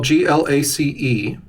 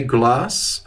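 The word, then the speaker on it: glacé: term glass in glass but notice that's well g-l-a-c-e this is spelled g-l-a-c-e accented gu that means that e is pronounced glace if you say ante glass you're talking about tea flavored ice cream is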